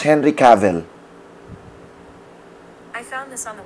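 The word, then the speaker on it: Cavill: na to si Henry cavell Hey Siri How do you pronounce Henry cavell I found this on the web How do you pronounce youve heard it like travel cav is pronounced like trav travel All right so itong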